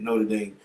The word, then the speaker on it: Notre Dame: Wait, is it Notre Dame? Yeah, that's how you say it. Notre Dame.